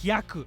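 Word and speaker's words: 百: Japanese for 100 is yaku the he of Hyaku sounds like the word he the yak of yaku sounds like the word yak something huge is emerging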